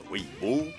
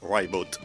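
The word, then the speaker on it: Ribot: Un peu comme pour le guitariste Mark Ribo qui tient à souligner sur son site web que son nom se prononce bien Ro et non pas Rot.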